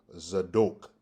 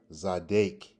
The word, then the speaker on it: Zadok: The first one is Zadok, Zadok, Zadok, or either Zadek, Zadek. Notice you have an O sound in Zadok, and you have a sound, Zadek, Zadok, Zadek.